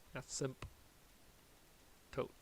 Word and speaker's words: asymptote: VA for vertical astop you spell it like this vertical and then asmo as simp tote and this particular ASM